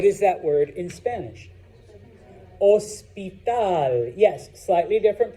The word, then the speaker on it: hospital: Hospital. What is that word in Spanish? Hospital. Yes, slightly different pronunciation because remember, H's are silent, so it's not hospital, all right?